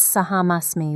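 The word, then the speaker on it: अहम् अस्मि: Just a little adjustment. It's Saham Asmi with a long A sound at the beginning.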